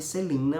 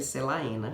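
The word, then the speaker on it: Celaena: ou Celina sardote em eu chamava de Celina mas se escreve selaína é uns nomes muito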